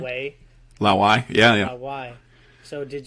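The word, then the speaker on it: 老外: Pardon my pronunciation here; it's going to be horrendous. But that's Lao right. Wei. Lao Wei, yeah.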